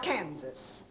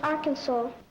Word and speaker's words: Arkansas: of the young and now we come to the state of our kansas well please it is pronounced arkansas what's that kansas upon